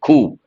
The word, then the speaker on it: coup: Ku. The letter P is silent, part of speech, noun.